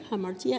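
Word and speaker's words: ἁμαρτία: I'm going to try. Hamartia. Hamartia. Yeah, that's good. Do we agree on this Yeah, pronunciation? yes. Okay, you can just I give search. approve for that. Oh, he approved my pronunciation of hamartia, Esta palabra viene de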